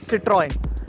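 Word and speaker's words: Citroën: The brand Citroen is pronounced as Citroen, and that is how you should pronounce this French automaker.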